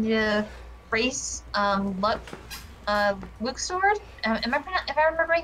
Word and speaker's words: Luxord: we're all pronouncing it luxord but apparently according to the kingdom hearts 3 translation team it's pronounced luke sword um but people just